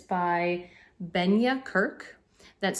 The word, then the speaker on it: Benja: I'm not sure if it's available anywhere else, but it's by Benya Kirk. That's spelled Benja.